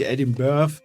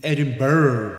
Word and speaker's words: Edinburgh: Edinburgh heißt es übrigens, ne? Habe ich jetzt mitbekommen. Edinburgh wird es ausgesprochen, also Eddie, nicht Edinburgh, nicht Edinburgh, nicht Eddies Geburt, sondern Edinburgh. Weswegen sich Rockstar Games spontan